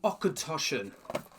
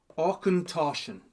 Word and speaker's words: Auchentoshan: Fancy pronouncing that? Well, it's the Okintoshen. Okintoshion.